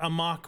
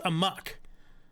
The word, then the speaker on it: amok: don't even think it's right because I thought a mock was uh amoc CK like something but it's a Muk because am K is the word I've I've